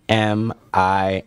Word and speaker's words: amine: AMINE? Eminem. Here's what I found. What? Eminem? We're not gonna talk to Siri. Siri doesn't know what she's talking about. It's called amine. So it's amines.